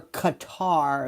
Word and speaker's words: Qatar: I'm telling you, Trump right now is arriving in cutter gutter or Qatar as people say.